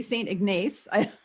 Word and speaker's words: St. Ignace: I don't know if I pronounce it. It could be St. Ignace.